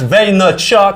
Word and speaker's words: Vaynerchuk: I'm sitting down with my very good friend, my brother, Gary Vaynerchuk. No. Oh no, hang on. What is this? Vaynerchuk. Right, no C. Before the K.